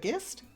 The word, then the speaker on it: gist: I don't know why I said gist. It's because I'm a GIF freak, so everything has a hard G.